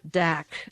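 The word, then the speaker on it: Dacre: the tragic history of double dak the re is silent d-a-c-r-e i call him count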